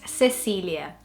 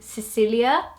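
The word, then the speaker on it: Cecília: it would be more Cecilia. but not Cecilia. It wouldn't be spelled out. I think the Lia is a lot more spelled out in the English pronunciation than in the Portuguese one.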